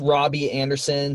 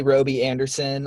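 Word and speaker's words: Robby Anderson: at 21 we have robbie anderson some may say roby anderson i would disagree it's spelled like robbie the panthers are taking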